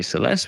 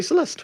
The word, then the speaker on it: Celeste: And clue 10, my name rhymes with molest.